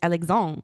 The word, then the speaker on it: Alexandre: And he said, no, in Quebec it's Alexandre, you know, and it's Doucet, not Doucet, you know, whatever.